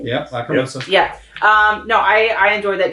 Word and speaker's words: Lacrimosa: Lacrimosa, if I'm saying it right. Yep, Lacrimosa.